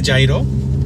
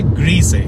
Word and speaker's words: gyro: তো ওরা এই খাবারটাকে যেটা প্রোনাউন্স করে, যেটার অ্যাকচুয়াল উচ্চারণ সেটা হচ্ছে গিরো, ইটস নট গিরো, গিরো, মানে জিটাতে একটা একটা চাপ দিতে হবে আপনাকে বলার সময়, গিরো গিরো।